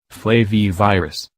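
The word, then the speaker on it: flavivirus: Foundation as PBS points out zika is a flavy virus which is pronounced a bit alike flavor flavy virus most viruses in this family are carried by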